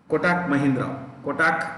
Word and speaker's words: Kotak: The actual pronunciation is Kotak, but many people say Kotak, so I also learned to say Kotak.